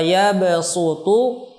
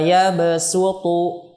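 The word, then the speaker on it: يبسط: Pertama, kata wa yabsutu dibaca dengan sin, yakni pada surah Al-Baqarah, ya, 245. Wa yabsutu, basṭatan dibaca dengan sin, basṭatan.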